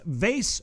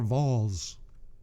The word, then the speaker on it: VASE: it's as it is a pronounced vase or vols we say the word can be said both ways we kind of like